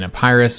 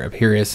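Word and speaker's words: Epirus: war between rome and in a pirus or appirius however you want to pronounce it i've heard it pronounced both ways uh so yeah that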